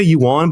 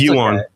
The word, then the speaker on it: Yuan: Because I always say Yuan but it's not Yuan is it? It's Euan.